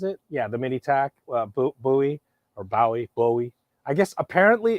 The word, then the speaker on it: Bowie: Yeah, it's neither Oh Bowie nor no, Bowie. Apparently, their name is Bowie. the way the Bowie family pronounces it is Bowie.